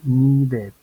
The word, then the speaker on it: needed: t es decir que cuando los verbos terminen en d y terminen en t vamos a poder hacer sonar la Ed cuando querramos hacer la